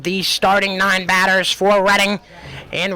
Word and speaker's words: Reading: of how many times I mix up reading, which is the correct way to pronounce it, and reading.